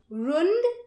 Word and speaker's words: rund: But the Germans don't like the D so much. Instead, we take many Ds and make a T out of it. Still, many Americans stick to their love for the D and pronounce German words wrong. Rund, Band. That's what we should say.